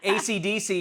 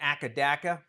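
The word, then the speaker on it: AC/DC: bolt in their logo ACDC is supposed to be pronounced one letter at a time but reported people in Australia kept on calling it akaaka no the Rockers are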